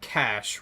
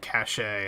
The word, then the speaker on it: cache: pick up a cash real quick it is pronounced cash right I've heard some people pronounce it cachet and I'm like I don't think that's how